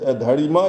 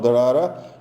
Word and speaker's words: Dharara: It is Dharima is a Tibetan mispronunciation of Dharara.